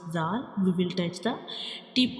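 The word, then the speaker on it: ذ: And in the case of zal, we also touch the tip of tongue to the edges of upper two front teeth.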